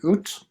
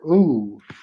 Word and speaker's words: août: Août. This one can be pronounced one of two ways. It can be août or ooh. Either one is fine.